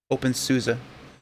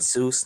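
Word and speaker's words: openSUSE: chameleon is the musket open souza yes susan not zeus not susie they made a musical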